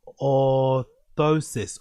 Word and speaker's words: orthosis: Ankle foot or oris or how you pronounce that? Um, orthosis.